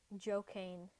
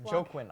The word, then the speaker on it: Joaquin: I used to say Joaquin. Yeah, or like it's Joaquin. I used to say Joaquin. Joaquin But Phoenix. it's Joaquin.